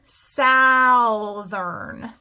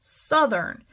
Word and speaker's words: southern: If I try this with an ow, southern. That's not a word I know. So I can try it again with the southern, southern. So in this word, OU, it just stands for a short U sound, like all right?